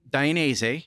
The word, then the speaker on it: Dainese: You've danced around that, but you work for a company, Dainese. Yeah. Just wanted to say it again. You're saying it right.